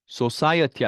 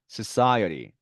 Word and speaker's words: society: 자, society 하시면 안 되고요. society, society 이렇게 발음이 납니다.